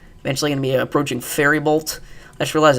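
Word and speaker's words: Faribault: Eventually going to be approaching Fairybolt. I just realized it's pronounced Fairybolt, not Fairbolt like I've been saying. The I is after the R.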